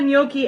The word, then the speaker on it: gnocchi: will do that but it is a ricotta noi and spinach bake yes that is how you